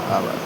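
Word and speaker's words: hour: दो 60 से * आवर ये हो गया मिनट टू आवर आवर होता है ठीक है एच ओ यू आर ठीक है ना आवर बोलते हैं ठीक है आवर को एच साइलेंट है ठीक है आवर या आवर्स बोलते हैं।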